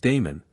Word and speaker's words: Damon: authors are agreed was Damon whose name they say ought to be pronounced with the first syllable short though Aristotle tells us